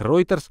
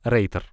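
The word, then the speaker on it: Reuters: окончание множественного числа а произносить его можно и как ройтер и как терс и как принято в России просто Рейтер спустя почти 140 лет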